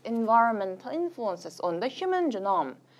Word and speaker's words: genome: 영어 발음은 지놈이긴 하지만 자, 인간 게놈에 암호화 시켜놨다고 합니다.